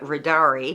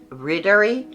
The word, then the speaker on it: Riddari: the pattern called Ridder I call it Rari but I've heard uh the right pronunciation I believe is rder and um this is